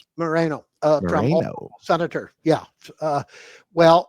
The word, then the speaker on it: Moreno: Republican Senator, how would I pronounce it? Morano says Moreno.